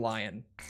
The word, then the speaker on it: Lyon: What word? Lyon. Like the city in France, Lyon. But when Americans, and not even just Americans, when any really English speakers, I know the Brits say it the same way. I know the Aussies say it the same way. When we talk about Arcane Lyon, we all say Arcane Lion. Like, without exception.